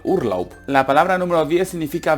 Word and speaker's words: Urlaub: Esto no tiene más complicación, se lee tal cual, Urlaub.